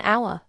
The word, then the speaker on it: hour: It starts with h, a consonant, but we say an hour. Why? Because the h is silent.